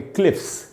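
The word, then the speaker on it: cliffs: जैसे क्लिफ का मतलब होता है खड़ी चढ़ाई, जो चोटी होती है वो, उसमें एस लगाया तो इसको पढ़ेंगे क्लिफ्स, तो इन स का उच्चारण होगा एस का।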